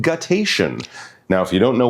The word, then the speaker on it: guttation: It's a cool word, and it's pronounced guttation.